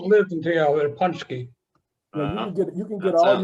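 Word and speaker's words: pączki: And what is Punchki? Punchki is spelled P-A-N-C-Z-I.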